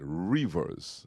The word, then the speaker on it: Revers: saying r e v e r s right reverse right that's the way I pronounce it right the earnest Rivers yes sir